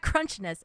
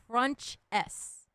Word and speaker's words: Crunchess: I kept calling you Crunchess. And it's not Crunchness, it's Crunchess.